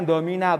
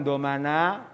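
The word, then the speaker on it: ضمن: Bacanya domina, bukan domana, bukan domuna.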